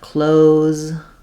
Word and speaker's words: close: The adjective has the S sound, but close, the verb, has the Z sound.